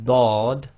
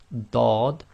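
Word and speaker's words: ض: 10 is the letter Dodd on its own so it's like a thick d Dodd and with the sukoon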